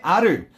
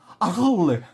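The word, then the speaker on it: Arles: 그 다음에 아를. 야, 이거 아를이라 그러지? 이거 왜 그러냐면 이거 프랑스어라서 이게 S 발음이 안 나는 거야. 아르.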